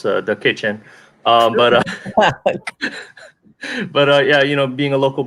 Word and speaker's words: Da Kitchen: What was your experience with growing up with Doc Kitchen? Oh yeah, well, I don't know if you're putting the wrong emphasis on the wrong syllable though, Tom, but it's the kitchen.